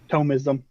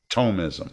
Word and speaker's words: Thomism: yeah no for sure but how do you pronounce it is it tomism or is it thomasim tomism tomism okay some people say atomism but it's it's